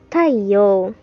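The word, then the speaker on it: 太陽: Nah, ternyata cara membacanya itu Taiyo.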